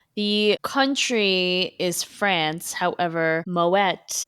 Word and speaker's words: Moët: However, Moette, it's pronounced Moeta. It's Dutch. The word is Dutch, but the bottle is French. Fascinating. I definitely have been calling it Moa.